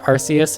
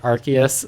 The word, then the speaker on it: Arceus: thought archus was pronounced arus until this trailer where everyone and their mom pronounced it archus so looks like that's it it makes sense cuz it has an arc on it whatever um but yeah